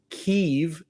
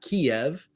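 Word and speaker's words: Kyiv: at some point um also learned that it's pronounced kiev not kiev yeah um yeah there's kind of the russian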